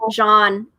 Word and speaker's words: Jean: the blue tribe was jean but i think her name is not pronounced i think it's more like john right joel like yeah